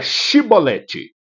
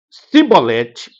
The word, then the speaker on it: chibolete: respondesse que não diziam Então diga chibolete se eles dissessem sibolete sem conseguir pronunciar corretamente a palavra prendiam e matavam no